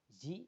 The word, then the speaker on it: Yii: Y atau kemudian dibacanya adalah Y begitu ya. Ya, yes it is maksudnya.